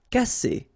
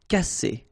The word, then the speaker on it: casser: Casser. Double S between two vowels. S. Casser.